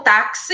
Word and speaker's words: táxi: rir Ah tá então táxi e a gente pronuncia tem mais som do que letra O que uma letra Só a letra x a gente lê como se fosse duas letras KS táxi a mesma coisa